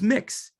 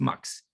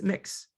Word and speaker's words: Mx: Some people, especially non-binary people, use mix, sometimes pronounced mux, MX period. It's different than Mr. or Ms. or Miss. It's mix, MX period.